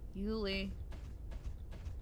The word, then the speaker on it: Juli: to see her either even though it's written as yuli and pronounced julie we're like the majority